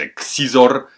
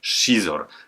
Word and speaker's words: Xizor: się imię tego gościa dla mnie to był zawsze xizor czytałem tak jak prawdziwy Polak natomiast nie tak dawno zostałem uświadomiony że czyta się to jako szor zatem niech wszystkim purystę Niech będzie szor A co stało się